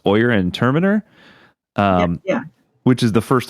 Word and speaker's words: Oyer and Terminer: Let's not continue down this road, but instead he puts together this court of, I believe it's pronounced Oyer and Terminer, Yeah.